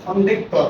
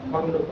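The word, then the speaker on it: খণ্ড ত: আমরা বলতাম খন্ডেক ত, তাই না? খণ্ডকে খন্ডেক ত, এর সঠিক উচ্চারণ হবে খণ্ডত।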